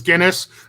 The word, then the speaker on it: Gines: tock it's at guinness my name your name is yes his last name is guinness not spelled like the weird though yeah i had